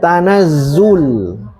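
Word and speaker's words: تنزّل: Kalau masdar bacanya apa? Tanazul. Tanazzul. Tanazzul malaikati.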